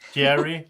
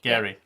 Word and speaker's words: Jerry: pronounced your name wrong it's jerry you're not gary okay yeah yeah sorry